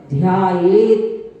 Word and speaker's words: ध्यायेत: ध्याये तो ऐसा अगर बोलते हैं तो ता पूरा हो जाता है, ता आधा है, इसलिए आधे ता को आधा ता ही बोले, तो इसका उच्चारण करना पड़ेगा ध्यायेत।